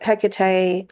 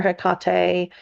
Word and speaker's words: Hecate: And of course, the fifth one that I'm going to talk about is Hecate or Hecate. Just depends upon how you want to pronounce her name.